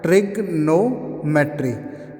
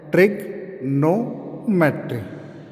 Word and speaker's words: Trigonometry: ट्रिग्नोमेट्री। जो यहाँ पर ओ रहता है ये क्या रहता है? साइलेंट रहता है।